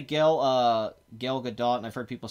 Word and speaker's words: Gal Gadot: he say up here the T is pronounced in Hebrew all the T okay all right I say so so it's gal gadot t' is a good